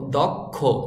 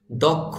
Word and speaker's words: দক্ষ: খ এই খ তার তারপরে উচ্চারণ হবে ওকারের মত দক্ষ যদিও এখানে কিন্তু ওকার নেই কিন্তু ওকারের মত উচ্চারণ করতে হবে দক্ষ ও যোগ্য নাগরিক করে